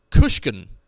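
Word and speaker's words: Guisachan: it's the uh the weight spell is g-u-i-s-a-c-h-a-n-g-u-i-s-a-c-h-a-n pronounced kushkin doesn't make any sense because it starts with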